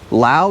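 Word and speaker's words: Laos: number two Lao so Lao spelled with an is called Lao there's no La I learned that the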